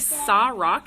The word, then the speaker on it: Sa-Roc: It's like Sa Rock.